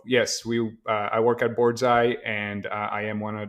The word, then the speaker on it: boardsi: out with this so board's eye is spelled b-o-a-r-d-s-i and uh some people pronounce it board c and some people pronounce the board's eye uh we try to stick with board's eye like bullseye like the old saying